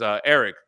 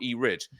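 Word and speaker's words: Erich: the comic key community, his name is Eric, but it's spelled like E-Rich. I always called him E-Rich.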